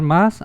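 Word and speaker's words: 马: mujer por ejemplo esta caballo que se pronuncia más y esta pájaro que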